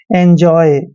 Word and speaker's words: enjoy: ENJOY दोस्तों ई का उच्चारण हम ए कर रहे हैं, हमेशा ए ही करते हैं और एन को न पढ़ते हैं। जे का उच्चारण जय करते हैं, ओ वाई को आय पढ़ते हैं।